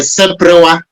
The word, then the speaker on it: seprewa: Yeah, yeah, this is a seprewa. It's broken into three. So as we say, it has three syllables: se, pre, and wa.